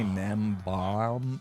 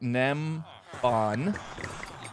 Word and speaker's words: Nembon: I always pronounce it with an M at the end, but it's an N. So look up Nembon, who, by the way, now is a developer, the Java edition of Minecraft.